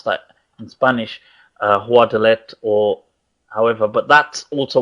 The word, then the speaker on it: Guadalete: It is also known as Guadalete. I'm not sure how they exactly pronounce that in Spanish, Guadalete or however, but that's also what it's referred to.